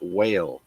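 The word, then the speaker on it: Weil: a young lady by the name of Cynthia whale that's spelled we l born in 1940 she's an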